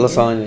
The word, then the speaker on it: Lasonya: So, Miss Lasonya, is that how you say it? Yes, it is. Lasonya, yeah.